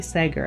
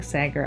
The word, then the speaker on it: Sager: I was also just finished reading The Only One Left by Riley Sager, and I keep saying Sager. I understand that it's Sager, but the pronunciation changes depending on who you ask.